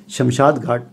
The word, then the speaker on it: شمشان گھاٹ: صحیح تلفظ شمشان گھاٹ ہے